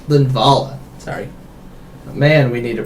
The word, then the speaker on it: Linvala: interesting they only have one leav uh bra linvala linvala sorry man we need a pronunciation key that's just above the monitor yeah